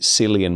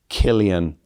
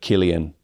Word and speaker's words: Cillian: from an Italian perspective, you learn that uh the the C sound in English, if it's followed by an I, is usually pronounced s. So, you would be Silian Murphy instead of Cillian Murphy.